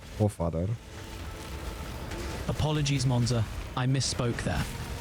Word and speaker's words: Pofadder: It's a pofadder. Ah, got it. It's pronounced Pofadder.